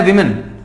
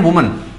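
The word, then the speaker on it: woman: ठीक है, ऐसे ही होता है विमेन, देखो इसको बोलते हैं वुमन, सिंगुलर को बोलते हैं ऐसे, कई बोलते हैं इसको वुमेन, नहीं इसको बोलते हैं वुमन।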